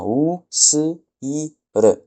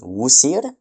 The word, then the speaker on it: wsir: Donc, avec un peu de jugeote, si vous avez retenu, on obtient "ou s i r". Donc, si on transcrit rapidement, ça donne "Ousir". Ousir, d'accord. Et ben, Ousir, c'est un mot en égyptien ancien et c'est Osiris.